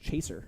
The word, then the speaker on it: Cheshier: cat which is weird because his name actually pronounced Chaser the Chaser but I mean it looks like